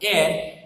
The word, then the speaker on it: heir: लेकिन यहाँ पे HEIR शायद आपके लिए एक नया वर्ड होगा। एयर उसको प्रोनाउंस करेंगे सबसे पहले, और उसका मीनिंग जो होता है एयर यानी उसका जो डिसेंडेंट होता है।